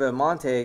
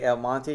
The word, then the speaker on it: El Monte: By the way, it's really weird for me to say El Monte because it's El Monte, but I know that that's not how they pronounce it, so that's why you hear me struggle with that.